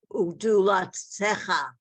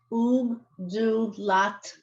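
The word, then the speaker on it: וּגְדֻלָּתְךָ: Do this word again. Ugdulatecha. There's no, it's ugdulatcha.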